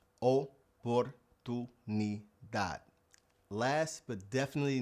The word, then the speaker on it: oportunidad: Now in Spanish, the word oportunidad, you have to pronounce it with an O. If you say oportunidad, that word doesn't exist. Oportunidad.